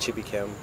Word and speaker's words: Chibuikem: descendants from Nigeria um and the name is pronounced chippy Kim I got away but um it means got